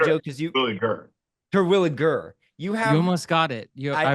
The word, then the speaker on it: Terwilliger: Because Terwilliger. You almost got it. I almost got it. It's a hard G.